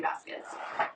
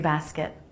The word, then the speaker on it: basket: I have two different laundry baskets. Now, this should probably be in here. Laundry basket. Basket with the a as in bat vowel. The unstressed syllable has a very quick I vowel.